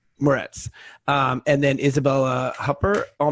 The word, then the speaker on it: Moretz: So it's with Chloe Grace how do you pronounce her last name? Moretz.